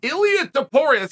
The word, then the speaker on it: Ilia Topuria: me a phonetic spelling and an audio clip Ilya deporres exactly right it's worth knowing right we don't